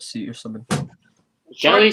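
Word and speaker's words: ghillie: Just camping in the gillet suit or something. Gilly suit, not gillet suit. That's like gillet suit.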